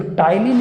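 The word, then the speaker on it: ptyalin: और ये जो टाइलिन एंजाइम है, टाइलिन में बेटा पी साइलेंट है, ये जो टाइलिन एंजाइम है, टाइलिन एंजाइम ये कार्बोहाइड्रेट पे अटैक करता है।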